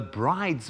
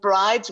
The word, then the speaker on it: Bryde's: But I want to start quickly this morning by saying most scientists actually call Bryde's whales Bryde's whales. So that's sort of the correct pronunciation. But I'm happy to stick with your Bryde's whales.